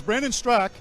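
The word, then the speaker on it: Brandon Straka: The A is silent. So it's Brandon Strak.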